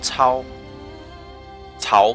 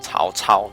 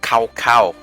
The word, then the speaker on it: Cao Cao: Cao Cao. Cao Mengde. Cao Cao. That's how you say his name. It's not Cao Cao. That's the bad American way of saying it. It's Cao Cao. That's Chinese for you.